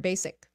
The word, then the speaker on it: basic: start with the word basic no no no no it's not basic it is basic it's an S sound not a z sound and then the C